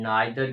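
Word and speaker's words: neither: लगेगा आदर एंड नादर के करेक्ट यूज को समझने की कोशिश करेंगे आइर और नादर को इदर एंड नीदर भी जो है प्रोनाउंस किया जाता है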